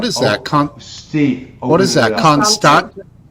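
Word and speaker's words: Constanța: that Steve open that constant how do you say that second Constantinople is what that is that's turkey so the T with it sounds like T this is Romania constan in Romania sounds TS we need a a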